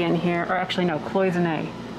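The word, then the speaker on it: cloisonné: here or actually no cloisonne or quasi-nay if you want to pronounce it the french way closing but this this is cool it's a card file cabinet for 15 out 1575.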